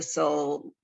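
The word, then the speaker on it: sole: It's called Soul, and soul is spelled S-O-L-E, not the soul of the interior, S-O-U-L. So it's soul the fish, S-O-L-E, soul.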